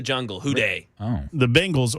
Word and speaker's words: Bengals: The Bengals, or as Mac Morey calls them, the Bangles.